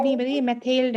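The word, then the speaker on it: Mathilde: Please don't मेथलाइड नहीं tell बताइए, मेथेल्ड है. अगर आप इसकी प्रोनाउंसिएशन एग्जैक्ट करोगे, फ्रेंच प्रोनाउंसिएशन, इट्स मेथेल्ड.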